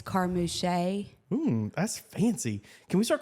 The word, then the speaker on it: Carmouche: Yeah, Carmouche. I thought there was another way to say it. There's 3 ways to say it. Usually, if you're in like deep southern Louisiana, it's Carmouche.